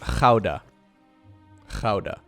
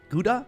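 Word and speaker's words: Gouda: d a okay it's a dut City it's pronounced Kaa Kaa there you go there you go okay Kaa not not is GAA guda what is this it's not a guda like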